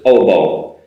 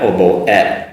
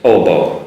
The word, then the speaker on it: oboe: because in Japanese that has an et sound at the end, but in English you don't need it. Just oboe. Don't need an oboe et. Just oboe is the instrument in the orchestra.